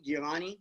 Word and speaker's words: Giovanni: Let's go with how do you say it? Giovanni, right? Is that how you say it? I don't really. Yeah, that's how you say my name, bro.